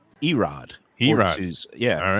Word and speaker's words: Irad: by uh with i irad ortiz it's not irad it's mispronounced erod he rises yeah all right so and then